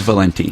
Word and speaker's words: Valente: everyone's being shocked that my name is not pronounced Valente so it's Valenti it's Valenti great um